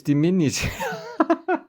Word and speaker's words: diminutive: it check GPT how to say it it's dimin that's why we don't use it we just